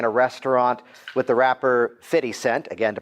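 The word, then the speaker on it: 50 Cent: you don't know who fitty cent is to pronounce it properly you are still laughing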